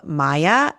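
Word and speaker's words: Maia: So, first of all, they serve breakfast in a restaurant called Maya, M A I A.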